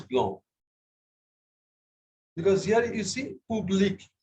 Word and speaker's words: blanc: Why do we not pronounce the C? Because F, R, L, C are pronounced at the end. R, the right answer is are generally pronounced at the end. Not in all cases. Okay, it is blanc.